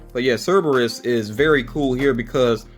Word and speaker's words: Cerberus: I know I was mispronouncing that before, but Cerberus is the name. I think I was picturing it when I pictured the word. I think I was leaving out a letter there.